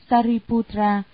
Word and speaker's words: Sariputra: Ngài Xá Lợi Phất, Ấn Độ đọc là Sariputra, chữ Hán là Thân Tử.